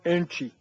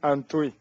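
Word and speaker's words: Antwi: In Ghana, how we pronounce it is different from how they pronounce it here in Egypt. In Ghana, it's John Entry. But in Egypt, they pronounce it Antoy.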